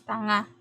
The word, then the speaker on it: tanga: Because NG is usually pronounced as nga. Ng. So it's tanga.